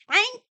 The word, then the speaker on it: Pynk: pink now it's called pyn K so it's pronounced the pink okay and there's a line wrapped around the